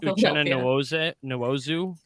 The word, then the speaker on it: Uchenna Nwosu: Zach I love that you pronounced Uchenna Nwosu correctly, and then I saw the stutter, and it was like, yep.